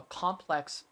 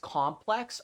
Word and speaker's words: complex: She had built up a complex. I hate that fucking word. That is such a bullshit English word. Because based on how it's used, it's either being pronounced complex or complex. Adjective complex. Noun complex.